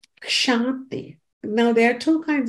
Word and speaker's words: kshanti: But the shanti that is being referred to in this verse is spelled with a K in the beginning, with a slight K, shanti, K-S-H-A-N-T-I.